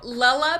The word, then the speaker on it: Lella: So that's where it comes from, and it's just like Cinderella, Lella.